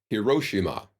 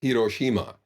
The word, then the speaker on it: Hiroshima: in oh uh Tokyo a lot of Americans will say Hiroshima when it's Hiroshima each of these syllables should be pronounced and then there are